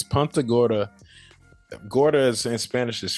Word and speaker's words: Punta Gorda: It's Punta Gorda.